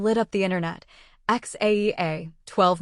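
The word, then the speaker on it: X Æ A-12: X Aea 12 Musk pronounced something like Xash A12.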